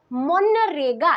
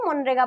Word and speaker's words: मनरेगा: scheme कोन दिया जी मनरेगा eighty zeta silent है मनरेगा पढ़ा जाए हला तो एटी दिया जी